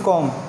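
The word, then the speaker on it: comb: Okay, ये जो examples थी ये किसकी थी, एम और बी की, जिसमें से एम जो है वो अपना साउंड दे रहा था लेकिन बी जो है वो क्या है, यहाँ पे एज अ साइलेंट लेटर काम कर रहा है।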